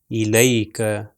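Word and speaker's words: إليك: پاس ہے وہ ہے الیک. الیک. لام کے اوپر زبر اور یہ اگلا یہ جو ہے اس کے اوپر سکون ہے تو یا ساکن ہے تو اس کا تلفظ لئی ہوگا الیک.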